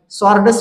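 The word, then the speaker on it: sword: या शब्दाचे आपणाला वाचन सॉर्डस मन या पद्धतीने करायचे आहे. त्याच्यानंतर पुढच जे एक्झाम्पल आहे सॉर्ड आता हे सॉर्ड एक्झाम्पल वाचन करत असताना यातील जे डब्ल लेटर आहे आपलला सायलेंट ठेवायचे आहे कारण एस नंतर डब्ल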